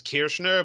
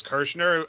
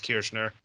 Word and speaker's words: Kirchner: Well, I was going to say, I mean, my name correctly pronounces Kirchner, but we Americanize it as Kirchner. I mean, people pronounce it both ways. Either one is basically right for me, but correctly pronounced it's Kirchner.